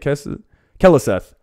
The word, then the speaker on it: Keleseth: Keleseth.